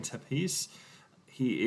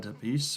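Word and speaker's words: Tepeș: His real name is Adrian Tepes. He is the son of Count Dracula, or Vlad Tepes, or Tepesh, however you want to pronounce it.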